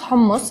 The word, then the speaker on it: hummus: let's talk about hummus yeah so um it's pronounced homeless in arabic but a lot of people say hummus even in the middle east people refer to